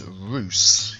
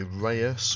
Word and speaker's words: Reus: welcome to biffer plays Roose yes that is the way to pronounce it I know immediately upon looking at the word you want to say Reus or ryus but it's Roose which is Dutch for giant and this is a